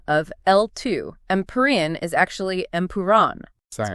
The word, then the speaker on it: Empuraan: Oh, the correct pronunciation of L2 Empire is actually Empiron.